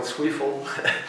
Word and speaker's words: Zweifel: these guys uh actually michael sweefel as they pronounced in the u.s uh he played in